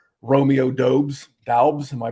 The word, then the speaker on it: Doubs: lot of guys in this range, like Romeo Doubs. Am I pronouncing that correctly?